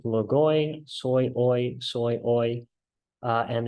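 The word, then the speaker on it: λόγοις: drinking soy sauce because soy rhymes with logoy soy oy soy uh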